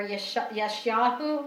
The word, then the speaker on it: Yeshayahu: Okay, Isaiah, or Yeshayahu. Actually, when I say his name the whole way, the right way, often I short it.